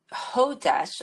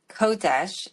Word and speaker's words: Chodesh: It's actually in the Hebrew. It would be Q, Oh, but CH or just H, same thing.